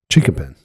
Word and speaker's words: Chinquapin: Chinkapin.